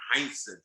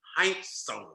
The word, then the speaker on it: Heinsohn: his name he said that's not my name tommy heinsohn it's tommy heintz he said the only